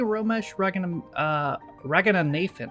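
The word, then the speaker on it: Romesh Ranganathan: Apparently, Romesh Raghunathan, is how you say it, is the new host of Art Attack, so it says on Google what I've heard.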